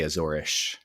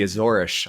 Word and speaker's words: Azores: looks like it's spelled Azores. Uh technically it's pronounced Azores, which in Portuguese you would say Azorish. They say ish for their s's.